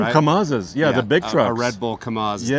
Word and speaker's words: Kamaz: Kamaz.